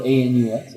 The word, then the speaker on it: Aeneas: It was A-E-N-E-A-S or something. Okay. Oh, so it's sort of like Aeneas. So it could be Enos. But the correct pronunciation is actually Anus.